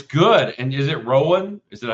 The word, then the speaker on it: Rowan: And is it Rowan? Is that how you pronounce it?